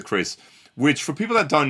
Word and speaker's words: Keris: So, we've got the Chris or Crisis, but I think it's pronounced the Chris, which for people that